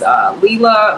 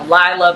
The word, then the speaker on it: Lilah: because my name is Lilah. A lot of people say it's, you know, Lilah, but it's my name is Arabic. So the I is pronounced like an E, like Ali. So it's really Lilah.